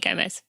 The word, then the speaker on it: Gomes: Who is Gomes? Or is it Gomes? Did I say it right? It's Gomes. It's Portuguese. Gomes.